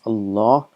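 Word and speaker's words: الله: allah it's pronounced as allah but it is written as a law the alif is omitted and this is how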